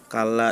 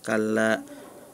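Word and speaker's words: كَلَّا: Terus juga kala di surah almuddattir kalla harusnya panjang dibacanya pendek. Nah, terus berikutnya mengenai gunah ya, baik itu idgqam bigunah maupun nun dan mim gunah.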